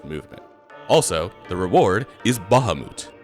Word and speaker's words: Bahamut: Yeah, apparently that's how the name is pronounced. I used to call him Bahamut as a kid, but later Final Fantasies would indicate that that is not how it's pronounced.